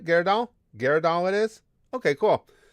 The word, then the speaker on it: Gyarados: Oh, I did pronounce it right? Gyarados?